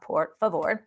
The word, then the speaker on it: por favor: and it's it's pronounced por favor so i'm going to go in it's just like spanish so it's por favor and its pronunciation is poor fa vor and it means please